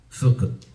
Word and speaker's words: Sukkot: Se llama Sukkot en hebreo. Lo que los hermanos están terminando estos 7 a 8 días que celebran ellos esta fiesta. Sukkot. Así es como lo pronuncian ellos en hebreo.